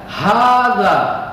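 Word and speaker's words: هذا: Kita lanjutkan ke kosakata yang berikutnya atau mufradat yang selanjutnya, itu ada hadza. Bapak ulangi lagi, hadza. Gitu bacanya ya.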